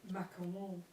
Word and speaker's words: macaron: Macaron. M French.